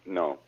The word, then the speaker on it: Nyo: That's supposed to be pronounced no.